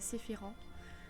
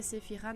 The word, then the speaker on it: Sephiran: Moi je le prononce en français, donc le AN se dit en, donc c'est Sephiran. Mais si vous préférez Sephiran, bah, ne m'écoutez pas.